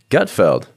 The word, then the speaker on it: Gutfeld: You are usually on Gutfeld.